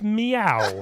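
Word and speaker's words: Mieu: over a year ago I couldn't pronounce that name it was m y Au U it's meow meow she's a cat from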